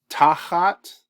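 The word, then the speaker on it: תחת: good mnemonics for uh tahat when you've got this blue syllable here this means this is the accented syllable so means under or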